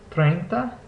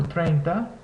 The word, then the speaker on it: treinta: Next is the AE combination, which together makes the sound similar to what you hear in the English word bay. So we see this in words like treinta and tenéis.